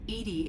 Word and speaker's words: EDI: are you named edie edie is the phonetic pronunciation of e d i that is an acronym